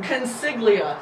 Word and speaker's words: Consiglia: pronounce her first name consiglia just like it looks siglia okay i'm gonna